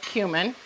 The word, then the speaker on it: cumin: And it is pronounced cumin.